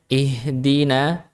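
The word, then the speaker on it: ٱهْدِنَا: Harusnya bacanya ihdina. Jadi ihdina d bukan harusnya di. Nah, jangan sampai bacanya d.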